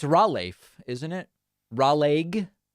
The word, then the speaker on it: Raleigh: It's Raleigh, isn't it? Raleigh? It's like a raw leg.